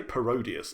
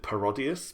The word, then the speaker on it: Parodius: of shmup parodius well people say parodius i always mentally pronounced it parodius because it's parody not parody but yeah uh the